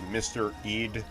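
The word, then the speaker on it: Mr. EAD: had a character and his name was mr eid e-a-d but when you say mr eid really fast it sounds like the word mystery danger huge meteors are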